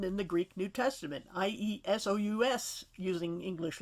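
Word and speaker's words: Ἰησοῦς: And you'll notice in the Greek text, the name for Joshua is Iesus, or Jesus, more like the Y sound, exactly the same as it's spelled and probably pronounced in the New Testament for Jesus.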